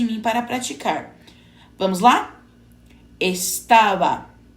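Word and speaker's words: estaba: em português no espanhol a letra B geralmente é pronunciada com menor pressão labial parecendo intermediário entre o v e o b Mas cada país tem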